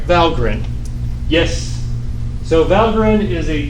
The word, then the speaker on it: Valgrind: having memory leaks what valgrind is and i know it's spelled like it should be val grind but it's really pronounced valgrind just that's the way they did it debugging memory leak detection